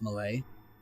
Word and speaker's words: Mallet: It's spelled like mallet, but it's pronounced Malay.